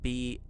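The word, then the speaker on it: Brahe: It's spelled B-R-A-H-E, and I went and listened to how it's said. It's spelled, or said Bra.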